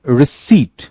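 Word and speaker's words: receipt: सो forehead, विक्चुअल्स, रिसीट, अब देखो वही रिसीट यहां पे आ गया, पी साइलेंट है, सैमन, अपोसल, शेफर्ड, स्वॉर्ड,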